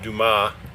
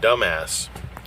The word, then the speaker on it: Dumas: I was going to Dumas, pronounced Dumas. But if you saw Shawshank Redemption, then that guy calls it dumbass.